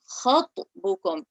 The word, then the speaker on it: خطبكم: So the kha sounded very light. So can you try again and elevate the kha? Look, the kha is on the heavy letters bar. So kha and ta are both heavy. Khatbukum. Elevate your tongue.